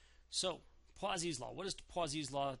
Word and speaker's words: Poiseuille: seen it written and I had to look up how to pronounce it um because I never took French so poas law what does poas